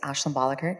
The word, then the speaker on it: Ashlin Bolicker: Uh my name is Ashlin Bolicker. Correct. P pronounced it correctly.